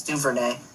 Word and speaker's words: Duvernay: I believe that's how you pronounce it. It's Duvernay.